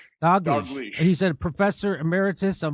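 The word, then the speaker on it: Dalgleish: Uh I don't know how you pronounce his last name, Angus uh Doglish. Doglish.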